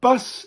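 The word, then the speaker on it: bws: Now, bus in Welsh is a nice simple one to say. because it's bus. Bus. B-W-S. Bus.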